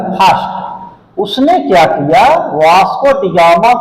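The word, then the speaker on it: da Gama: तो अब हम आते हैं थर्ड पॉइंट पे, वास्को डी गामा के बारे में, जिसके बारे में आप लोग अवगत होंगे। वास्को, इसको डगामा है, डगामा, इसको डिगामा नहीं कहा जाता है।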